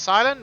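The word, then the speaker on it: Cilan: And I know it's pronounced Silent because I've seen the show.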